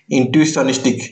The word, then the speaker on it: Intuitionistic: यहाँ पे देखो इंट्यूस्टनिक लिखा है, तो इंट्यूशन, इंट्वी, उसके बाद सन स्टिक, इंट्यूशनिस्टिक, इस तरह का आप प्रोनाउंसिएशन कर सकते हैं।